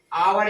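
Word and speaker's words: hour: बाद क्या है हमारा जो साइलेंट ह है हमारा वो हमारा क्या है इसमें ह ओ यू आर इसको हम क्या करते हैं अवर या आर% तो ये क्या होता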